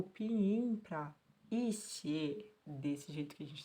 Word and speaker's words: 些: Então, xie é o jeito que a gente pronuncia aqui.